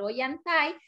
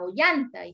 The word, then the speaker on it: Ollantay: la pronunciación verdad porque si no lleva Tile tendría que ser Oy anai y se llevara sería ollanta y ambas pronunciaciones también son válidas por eso en las